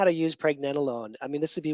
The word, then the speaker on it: pregnenolone: Sometimes people say pregnenolone or something like that, like it's cannelloni or something. It's pregnenolone, it's how you pronounce it.